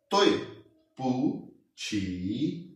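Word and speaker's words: 对不起: तीन वर्ड हैं बेसिकली, तोय पूछी, जो तोय है इसकी जो टोन है ये हमारे पास फोर टोन है, तोय तोय, और पू की न्यूट्रल टोन है तो हम इसको लाइट एंड शॉर्ट प्रोनाउंस करेंगे, पू पू पू। और जो छी है इसकी हमारे पास थर्ड टोन है और इसको हम प्रोनाउंस करेंगे छी, तो इसको हम कट्ठे को प्रोनाउंस करेंगे तोय पू छी, तोय पू छी।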